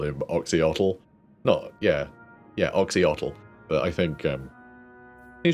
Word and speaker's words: Oxyotl: I think it should be Oshiotl. By the pronunciation guide. In the Lisbon books. Those combinations of letters are pronounced that way for like cities and things. It could be Osh, I think. This isn't like it's a real name, it's Aislinn. Like, this is, you know, purely going by a pronunciation guide in an old army book.